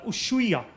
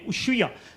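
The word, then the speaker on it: Ushuaia: city called uh uh usya it's spelled as us h u i a usya now this is generally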